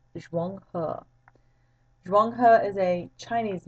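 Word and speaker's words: Zheng He: Well, Zhuang He, and that's how you pronounce his name, Zhuang He. It looks like Zhang He. It's pronounced Zhuang He.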